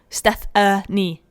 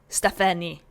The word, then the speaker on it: Stephenie: Stephenie. Not Steph with an A. No, Stephenie.